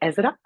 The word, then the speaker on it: Esra: You pronounce it Ezra. Esra.